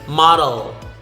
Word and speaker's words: model: The same thing with model, module, modern, model.